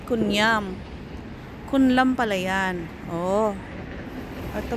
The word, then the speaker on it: Kun Iam: Sona, the laser, the marginal, the estatwa, the Kunlam. Ay, Kunlam. Ayan pala guys, ang hindi siya pero kung i-pronounce siya ay Kunyam.